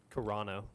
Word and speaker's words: Carano: Would you give me the pronunciation of his last name? Carano. Carano.